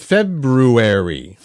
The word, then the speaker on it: February: People mispronounce the month of February.